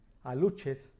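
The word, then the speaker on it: aluxes: Esas legiones de demonios, unos demonios todos pequeños, como gorditos, que se llaman aluches con X, solamente que pronuncia como CH, aluches, en el sureste mexicano.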